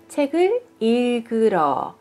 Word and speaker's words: 책을읽으러: 発音はパチム 2 つ、二重パチムなので一個一個こう離れて読むようになりま